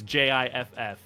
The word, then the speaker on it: GIF: yeah you're the actual the only word of filed Association pronounced is GIF is Jiff I don't care here